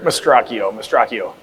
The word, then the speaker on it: Mastracchio: Now, how do you pronounce Rick's last name? Rick Mastracchio.